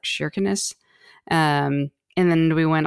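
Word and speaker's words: Kirkenes: to the top in kirkinis which they actually pronounce it as like shinness um and then we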